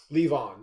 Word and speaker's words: Levon: Levon, yeah.